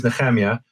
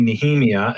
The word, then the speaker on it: Nehemia: And look, my name is Nehemia. People call me Nehemia and Nehemiah, but it's still different than I like to say.